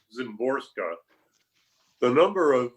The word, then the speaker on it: Szymborska: the the ways and in her last name i which i take it is pronounced zimborska the number of letters